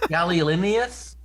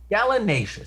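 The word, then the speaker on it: gallinaceous: large north american do you pronounce that word galileonius bird what that is domesticated in most parts of the world i think it's galinacious galinacious thank you so it's a galanaceous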